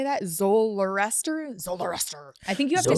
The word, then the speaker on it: Zoroaster: Zoroaster? I think you have to say it. Yeah. Is my understanding of how it's pronounced. Do it one more time. Zoroaster.